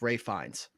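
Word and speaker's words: Ralph Fiennes: I know it's Ray Fiennes. I thought I was reading the slide wrong. No, Reading no, the slide wrong. it looks like Ralph.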